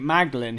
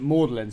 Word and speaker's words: Magdalen: college and then just instead of pronouncing it magdalen he's pronounced it modeling so it sounded like orderly so now everyone